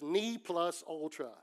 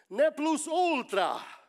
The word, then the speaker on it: ne plus ultra: I looked it up in the dictionary, and they had a pronunciation in American. It says Ni plus ultra. I'm like, that's boring, dude. That's a Latin word. Ne plus ultra.